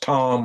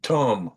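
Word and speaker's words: Tunb: So I've heard it pronounced Tom or even Tum or like thumb.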